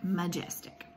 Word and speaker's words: majestic: third syllable tick majestic now that doesn't sound quite right but it does sound like a word that i know majestic which tells me that this first syllable should be a schwa so i'm going to mark out the open and i'm going to draw my little upside down backwards e to mark that first syllable as a schwa syllable and i'm going to